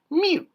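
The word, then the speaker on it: miw: and then the chick for w so it's pronounced Mew get it Mew me me what do you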